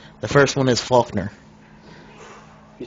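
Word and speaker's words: Falkner: The first one is Faulkner.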